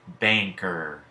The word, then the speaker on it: banker: consonant end can also represent a as in banker your it here at you're going to hear